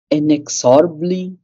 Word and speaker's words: inexorably: Circle and end of every hope and toil inexorably drawn inexorably inexorably inexorably inexorably so R is silent uh yeah inex okay ably ably okay